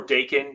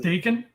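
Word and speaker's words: Daken: It's pronounced Dakin, his son? I think it's Dakin. Like bacon, because he's Canadian?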